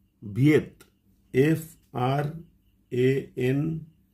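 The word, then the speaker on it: Viète: যে ভদ্রলোক ব্যাখ্যা করেছিলেন তার নাম হল François ভিয়েত এফ আর এন সি ও আই এস বা ফ্রাঙ্কোইস আমরা এরকম উচ্চারণ করি কিন্তু এর আসল উচ্চারণ হচ্ছে ফ্রান্সুয়া আর ভিয়েত ভি আই ইটিই এটাকে আমরা অনেক সময় ভিটে উচ্চারণ করি।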